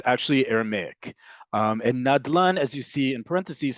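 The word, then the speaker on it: נדלן: In other words, we don't spell them out, we pronounce them as words. Nadlan is a great example. Nadlan, excuse me, is also not Hebrew. It's actually Aramaic. And Nadlan, as you see in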